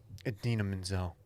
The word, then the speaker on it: Idina Menzel: I don't know if you guys saw this, but the wickedly talented Idina Menzel.